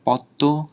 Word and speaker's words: পদ্ম: তার দ্বিতীয় উচ্চারণ হয়, যেমন পদ্ম, আত্মীয় ইত্যাদি। এখানে দয়ের দ্বিত্ব উচ্চারণ আর তয়ের দ্বিত্ব উচ্চারণ হচ্ছে, আর উচ্চারণও কিছুটা নাসিক্য হচ্ছে।